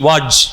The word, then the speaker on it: Wadge: அந்த பரப்புக்கு மத்தியில் நடுவில் இருக்கக்கூடியது வந்து ஒரு வாட்ச் பேங்க்னா WADGE, வாட்ச், அப்படி தான் ப்ரொனவுன்ஸ் பண்ணுறாங்க ஆங்கிலத்தில், வாட்ச் பேங்க்.